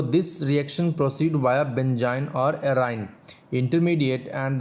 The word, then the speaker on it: benzyne: So alkyne, it's a structure like alkyne, so here we will pronounce it इज़ बेंजाइन। Okay, so इट इज़ बेंजाइन।